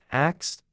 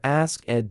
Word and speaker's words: asked: Many learners say asked or ask ed 2 syllables. The correct pronunciation is asked 1 syllable. The ed at the end sounds like a T, asked, asked. In English, when a verb ends in an unvoiced sound like K, the past tense ed is pronounced as a T, not as a separate syllable.